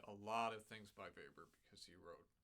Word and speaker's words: Weber: Our last big piece is very appropriately a Weber. You pronounce this guy's name Carl Maria von Weber, not Carl Maria von Weber, which is what I would have said the first time that I saw it.